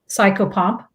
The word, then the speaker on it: psychopomp: crossing souls over a cycle pump psycho pump psychopomp can you spell that s-s-c-o-p-s let me write it out